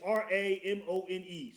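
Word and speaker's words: Raymone: It's Ramone. So I don't know. Like the Ramones, right? Like Ramon is how you would say it.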